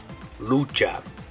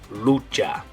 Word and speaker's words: lucha: and the way you're gonna say it is Lucha okay so like I said in English it'd be like wrestle or struggle or fight in Spanish it's gonna be Lucha if you've ever seen the movie Nacho Libre